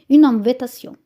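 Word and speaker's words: invitation: الرسم بانتير بانتير دعوه زي الانجليزي في الانجليزي اسمها انفيتيشن عندنا نفس الكتابه بس النطق مختلف انفيتاسيون انفيتاسيون فتره النهار اللي هو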